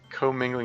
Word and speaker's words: commingling: commingling okay um co-mingling is the pronunciation but yes coming like